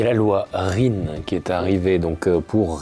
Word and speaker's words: REEN: Alors, nous, on prononce REN, mais on peut dire RIN, chacun prononce comme il le souhaite. Cette loi, elle est intéressante.